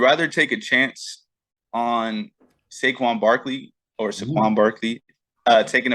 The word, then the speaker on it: Saquon: But yeah, you said it right. That's his name, right? Saquon? I don't know. I don't know if he prefers it Saquon or Saquon. So I would say Saquon, but that's just me though.